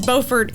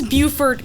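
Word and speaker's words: Beaufort: correctly he consistently pronounced they are different cities I am aware that it is bord in North Carolina however it is Buford here that's true it is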